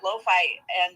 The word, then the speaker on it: Lofi: And we pronounce her name not Lo-Fi, which I did for years and did not realize I was mispronouncing it. It's actually Lofi. Like Sophie, but with an L, starting with an L, Lofi.